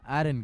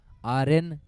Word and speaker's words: आर्यन: वीरल सामना करेंगे एरन का। आर्यन करेक्ट प्रोनाउंसिएशन है इनके नाम का।